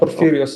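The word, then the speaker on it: Porphyrius: Perus. Is that how you say it correctly? St. Purious Orthodox Church.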